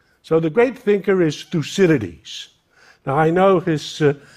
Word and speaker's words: Thucydides: most consequential question so the great thinker is lucidity now I know his name is a mouthful and some people have trouble pronouncing it so let's do it 1 2 3 together through Citadis one more time lucidity so who was lucid